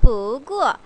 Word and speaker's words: 不过: 我也想下班不过 아까 못 읽었던 거 不过 라고 읽네요. 글자는 간단해요. 不 뒤에 자성이니까 부 웨이브 한번 타고요. 부구어 자 부구어 그러나 라는 뜻이에요.